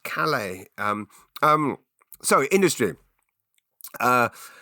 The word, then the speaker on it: Calais: you all back into Calais, which, by the way, is pronounced Calais.